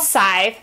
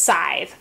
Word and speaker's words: Scythe: it is pronounced aside you don't really say the C at the beginning as a hard C it's just sighs so it's actually what